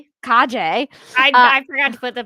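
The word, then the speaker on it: Calle: Then in post-production, Flash featured Sasha Kaje. Kajay. I forgot to put the pronunciation in there.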